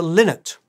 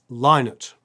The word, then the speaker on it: Lynott: than anything else was people mispronouncing his name. Fans, journalists, broadcasters, nearly anyone saying it aloud frequently mistook it for Lynott instead of Lynott.